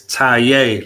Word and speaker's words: Taye: Okay, it's Taye, like you tying your shoe.